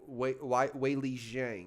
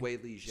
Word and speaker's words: Weili Zhang: Weili Zhang's going to be hard to beat her.